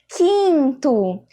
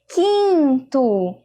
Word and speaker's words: quinto: E aí, vamos pronunciar agora quinto. Quinto, ó. É apenas um único som.